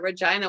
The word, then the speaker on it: Regina: it's so strange that they call it regina why do they pronounce